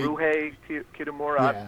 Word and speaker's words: Ryuhei Kitamura: Ryuhei Kitamura.